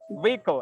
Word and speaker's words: vehicle: It's Vehicle. silent H. Yeah. Vehicle. Everybody, unmute and pronounce together. Vehicle. Perfect. Perfect. Without H. Without H, Rendra. Without H.